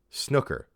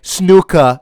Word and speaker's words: snooker: pronounced in your accent if i try to say snooka every time i say the word i'm gonna sound like a [